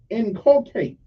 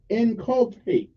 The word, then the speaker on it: inculcate: i n c u l c a te inculate inculate say it one more time inculate okay again